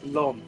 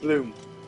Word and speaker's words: Blum: Steve Blum. Steve Bloom. Sorry, I don't know how I keep mispronouncing his last name.